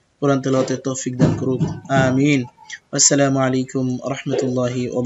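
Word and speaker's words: آمين: গায়রিল মাগদুবি আলাইহিম ওয়ালা দলিন, আমিন, আমিন বলা যাবে না, আমিন আলিফে ওঠান আছে, মিমে ওঠান আছে, আমিন।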